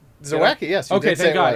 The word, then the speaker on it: Zawacki: Zawacki, yes.